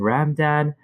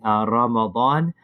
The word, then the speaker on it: Ramadan: Is it Ramadan, like ramen noodles, or is it Ramadan, or is it Ramzan?